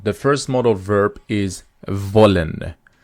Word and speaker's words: wollen: model verb is volen remember that when you want to pronounce this W in German which is VE it is a leod dental sound which means the upper lip touches the the lower teeth so we say volen